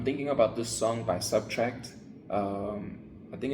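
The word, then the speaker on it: SBTRKT: And of course, with me thinking about the artist name, Subtract, but it's spelled like SBT R KT. Subtract.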